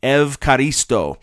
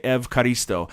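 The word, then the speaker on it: ευχαριστώ: you'd say thank you is the way they pronounce it is evaristo and so if you ever go to a Greek restaurant that's how you can thank your uh server for the food say evaristo that's how you'd say thank you in in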